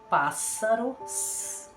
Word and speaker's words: pássaro: então vocês observem que quando é um s só tem um som de z como a palavra se pronuncia pássaros com som de s devemos P dois s